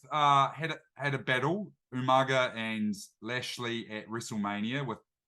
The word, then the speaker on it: Umaga: had the late great umanga Umaga how do you say it Umaga Umaga yeah Umaga I get confused because of Tana umanga which is not the same and obviously both have